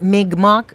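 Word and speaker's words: Mi'kmaq: canadian native we call we're called mick mock and um but it's kind of like mig mock but people pronounce it mick mock mock and then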